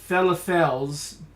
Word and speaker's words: falafel: 46 lunch platters at Octopus Falafel's truck in Central City. It's pronounced falafel.